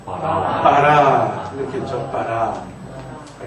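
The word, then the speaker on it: ברא: 알렙이 낱말 맨 끝에 오면 묵음이 됩니다. 그래서 어떻게 읽어요? 바라.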